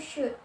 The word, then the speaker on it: should: Jadi contohnya yaitu should, ya, L-nya tidak diucapkan.